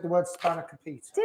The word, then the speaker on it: Spanakopita: We've had a chat about this before we went live with the cook along, because this recipe Simon calls Spanakopita. Because I'm very English and I pronounce all the letters.